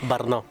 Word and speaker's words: Brno: are going to explore Burno the whole point of coming to Burno I love saying berno because that's how you say it barno so the whole idea